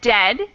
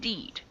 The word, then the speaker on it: dead: sounds like bird and dead it's said like bed not bead for goodness sake don't call it deed watch out for meat